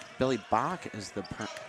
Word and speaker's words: Bach: Billy Bach is the correct pronouncing.